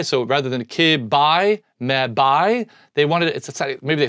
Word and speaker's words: mebi: But rather than call it BI, so rather than kib, bi, me, bi, they wanted it, maybe they sounded better, to call it B. So it's mebi, kibi, mebi, gibby, tebi, pebi, exbi, zebi, and yabi.